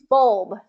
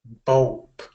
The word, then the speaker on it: bulb: exactly same here pul bulb bulb bulb the last the final B it's it's a voice B right so do we